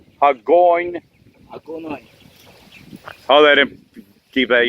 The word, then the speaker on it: Hagonoy: Hello YouTube, we're in Hagonoy, or however the town is pronounced. Hagonoy.